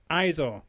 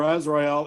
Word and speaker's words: Azrael: pronounce it, and Brother Izor. Again, mispronunciation there maybe, but you're all over him. It's Tony Midas and Brother Azrael, and they've been driving Roma Miller nuts over the last few months.